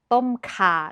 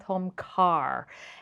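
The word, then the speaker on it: ต้มข่า: If you see an R following a vowel, do not pronounce it. It is laab, not larb. Tom ka, not tom kar.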